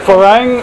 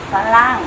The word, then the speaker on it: ฝรั่ง: Is it Farang or Falang? Falang. Falang. Okay, Falang.